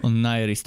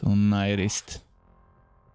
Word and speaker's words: Onirist: Onirist. Okay, so that's how you pronounce this. Onirist.